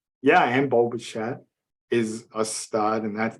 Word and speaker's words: Bichette: Yeah. He's Italian. Pronounce CH. That's a tough word to say. Okay. It's Bichette.